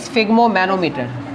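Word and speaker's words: sphygmomanometer: स्फिग्मोमैनोमीटर। Note कर लो instrument. So the name of the instrument is स्फिग्मोमैनोमीटर।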